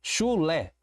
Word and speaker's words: chulé: Chulé. Chulé. Eu tenho uma palavra com duas sílabas, já não é um monossílabo. E eu percebo que a última sílaba é a sílaba tônica.